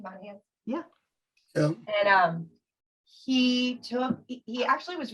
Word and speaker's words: Monahans: Monahans?